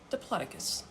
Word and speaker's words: Diplodocus: How do you pronounce diplocus? And it was Dloaticus. Dploticus.